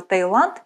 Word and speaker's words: Таиланд: написании произношении слова Таиланд встречаются два варианта через и через й как на экране так как же правильно запомним что в отличие от Тайваня и Малайзии название королевства Таиланд пишется без буквы е верно Таиланд